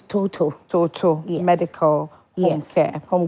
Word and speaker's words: Totoe: I was I was asking about the right pronunciation of the medical facility it said it's total it's total Total Medical Home Care Home Care Services right